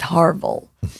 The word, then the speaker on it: Harville: So Orville rhymes with Harville.